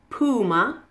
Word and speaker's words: Puma: fairly easy to pronounce just remember to stress the first syllable in each of these words Reebok Puma converse okay I hope